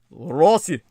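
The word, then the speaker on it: Россия: The Russian word for Russia is Rossi, but that O can be pronounced as an A. Russia. Russia. Something like Russia.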